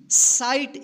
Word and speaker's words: sight: SIGHT, साइट, इसको सिगट मत पढ़िएगा, ठीक है ना, क्या पढ़ेंगे इसको, साइट, यानी आई के जस्ट बाद GH रहे तो इस आई का आई उच्चारण कीजिएगा, ठीक है।